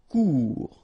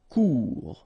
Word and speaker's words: court: Court. Final T not pronounced. Court. Remember, when you combine this O and U together, you get the sound OU. Court.